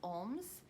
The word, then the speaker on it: Olms: So again, my name is Miss Olms. It's pronounced like the detective Sherlock Holmes, but you just don't pronounce the H sound.